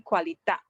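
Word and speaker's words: qualità: it's a qualita because in italian it always the the accent falls at the second last syllable so it's like if you have three syllables except if you see there is an accent mark that is um given to you then you know the accent falls at that syllable in this case that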